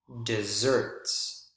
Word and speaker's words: desserts: book on southwestern desserts desserts not deserts really dry climate deserts deserts notice the word stress on the second syllable as compared to the word stress here on the first syllable so if we're talking